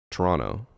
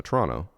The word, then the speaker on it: Toronto: Toronto. We don't say the second T. And they're like, "No, it's Toronto." Like, "No, Toronto.